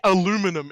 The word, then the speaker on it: aluminum: get it either, but It's like when you say aluminum. It's like, no, it's literally Aluminium. spelled aluminium. It's spelled aluminium, and you say aluminum.